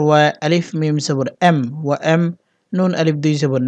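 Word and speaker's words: وأمنا: যেহেতু এখানে অকফু করবো অকফু করলে নুনে একলিপ টানতে হবে, উচ্চারণ হবে ওয়া এম না।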